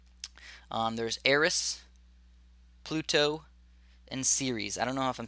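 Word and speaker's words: Ceres: there's ays Pluto and series I don't know if I'm saying that right it's c r s so series I think that's how you say it and those are the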